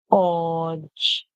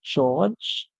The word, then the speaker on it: George: George. George. George. The E at the end is silent. And this is the most popular pronunciation for this name, George.